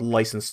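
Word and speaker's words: licence: You can also hear me on the podcast I do with my friend Carl called License to Spiel. That's licensed spelled with a C like the British do it.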